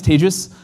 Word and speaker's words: Tejas: My name is Tejas. That's pronounced like contagious. Unfortunately, this got me a lot of trouble during the pandemic, as you can imagine. I had to switch it and do something like advantageous.